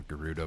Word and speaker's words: Gerudo: I really enjoyed was Gerudo Valley or Gerudo Valley however you want to pronounce it from Ocarina of Time